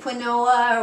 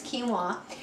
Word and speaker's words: quinoa: new to a lot of people it's called quinoa uh every a lot of people want to pronounce it quinoa or a lot of different ways but pronunciation is quinoa and this is its natural state and it's